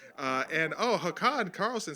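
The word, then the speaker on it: Håkan: the swedish uh swedish name uh and oh hakan carlson says basically pronounce hawk on thanks buddy so hawk on um elmac says as they pronounce in england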